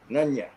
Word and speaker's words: Nunya: No, Nunya. That's how I pronounce it, Nunya. Okay. Yep. All right. Hey, Nunya. Like none your business.